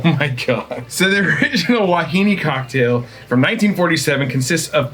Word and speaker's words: Wahine: Wahine.